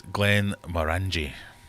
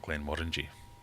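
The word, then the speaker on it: Glenmorangie: the short answer hey do you pronounce it's Glenn mangi not Glenn Mori H for those of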